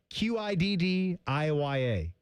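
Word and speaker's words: Qiddiya: Qid IA.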